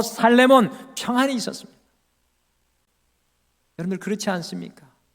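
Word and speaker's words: שלמה: 여러분들 솔로몬이라는 이름의 히브리어 발음은 살레몬입니다. 이 한국 발음이 솔로몬인데 원래 히브리어 발음은 살레몬입니다. 솔로몬의 이름 안에는 샬롬이 있었습니다.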